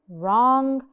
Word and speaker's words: wrong: no rest more examples wrong wrong wrong the W is silent because it's followed by an R Ash and v r